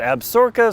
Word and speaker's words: Absaroka: in the fictional County absaroka County some people in Wyoming pronounce it absorca so however you want to do that is good for you you but this weekend